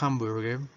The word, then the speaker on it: hamburger: h es muda pero en este caso en inglés la h tiene una pronunciación como jota o como g de gato fuerte y aquí tenemos hamburger hamburguesa otro detalle es